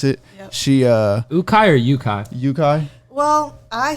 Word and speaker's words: Ukaj: Yeah, today we have Ukaj, right? Is that how you pronounce it? Yep. She, Ukaj or Ukaj?